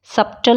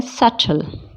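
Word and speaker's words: subtle: doubt नहीं बोलते doubt सबटल नहीं बोलते इसको क्या बोलते हैं सटल क्या बोलते हैं इसको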